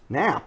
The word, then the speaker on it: Knapp: It has a silent K and an extra P.